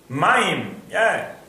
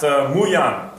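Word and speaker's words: מים: When you pronounce it this way, maim, not muyan, because maim is maim.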